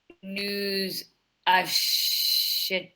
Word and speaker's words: achetons: We is nous Nous achetons. Voilà. But remember to do the liaison.